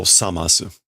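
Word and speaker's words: 覚ます: Me o this should be zamasu, right? Let me double check the pronunciation here. Oh, samasu.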